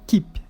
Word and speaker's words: keep: Mas não é regra, porque tem o keep na última coluna que você pronunciou o K.